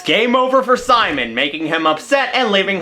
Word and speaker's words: Simon: Nina wins we're presented with the next contestant Simon and yes that's actually how they pronounce it in this show simono voiced by